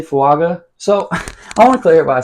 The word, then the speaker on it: Fuaga: Apparently, it's pronounced fuaga, which makes sense. That's how it's spelled.